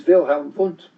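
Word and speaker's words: Wilhelm Wundt: Uh the the um the father of modern psychology is Vilhelm Vunt and he uh vaunt is spelled w u nd ddt and he was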